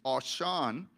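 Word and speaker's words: עשן: The word for smoking is a Hebrew word, which is Ashan, which is not Ashan, but it's spelled like Ashan, A-S-H-A-N, but pronounced with a W.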